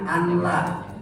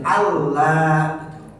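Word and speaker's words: أَنْ لَا: Ada yang membacanya, ada yang membacanya anla, anla. Ini udah jelas salah ya. Karena idgham bila guna, maka harus nunnya dihilangkan jadi Allah.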